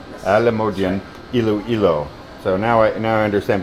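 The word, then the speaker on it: Alimodian: So it's Alisan District Hospital, but it's in Alamodian. Alamodian, Iloilo.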